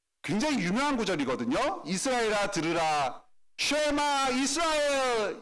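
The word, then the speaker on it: שְׁמַע יִשְׂרָאֵל: 쉐마 이스라엘 이렇게 히브리어로 발음해서 이게 쉐마 구절이라고 하는 유대인들 사이에서도 굉장히 유명한 구절입니다.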